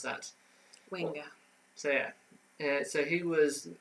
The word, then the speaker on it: Wenger: How do you pronounce that? Wenger.